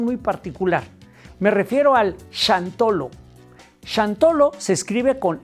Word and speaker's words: Xantolo: Me refiero al shantolo. Shantolo se escribe con x, como si dijeras jantolo o santolo con x, ¿no? Pero se pronuncia chantolo.